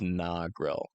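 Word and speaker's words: Negril: EF5 tornado nogil okay so this is pronounced nogil yeah over there in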